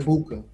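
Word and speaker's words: Egbuka: Emeka Ibuka. Yeah, the G is silent. Okay, Ibuka.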